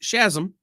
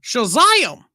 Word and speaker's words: Shazam: It's pronounced Shazam or Shazam. Either way.